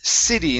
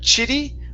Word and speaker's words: city: to okay the word City instead of chitty with the CH sound It's s city city okay very good um